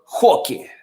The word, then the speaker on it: Roque: I Googled how to say his name properly, and apparently his last name, the R is silent. So it's Vitor Roque.